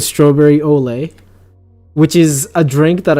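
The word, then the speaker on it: au lait: never mind it's olay is a french word pronounced as olay which means prepared or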